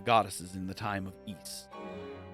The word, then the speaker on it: Ys: in the time of eats it is pronounced East by the way my leaves have felt